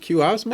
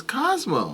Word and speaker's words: Cosmo: Is it Osmo? It's Cosmo. Cosmo. Okay. Pronounced Cosmo.